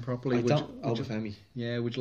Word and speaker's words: Obafemi: The two youngsters that you mentioned, Curtis and Obafemi, if I can pronounce his name properly. Obafemi.